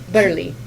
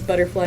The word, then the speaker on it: Butterly: Butterly. Oh, Butterly. Wow. I know. Other people in chat say that they mispronounced it as butterfly. Butterfly. Because, like, you read it and it looks like butterfly.